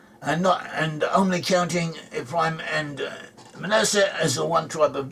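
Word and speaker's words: מנשה: In Hebrew pronounced Manasseh, Ephraim and Manasseh.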